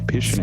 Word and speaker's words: Pisciuneri: We're going to say it rhymes with visionary. How's that? That is, you're correct. Visionary, Pisciuneri.